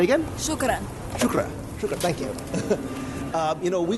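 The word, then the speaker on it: شكرًا: Shukran. Say again? Shukran.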